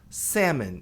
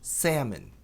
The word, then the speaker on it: salmon: aeronaves, aircraft, salmão, salmões, salmon, esse L não é pronunciado e o A tem som de E, agudo, longo, salmon.